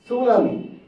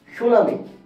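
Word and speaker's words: tsunami: উচ্চারণ হচ্ছে না তারপর দেখেন সুনামি সুনামি এখানে টি এর উচ্চারণ কিন্তু হচ্ছে না টি is silent T is silent T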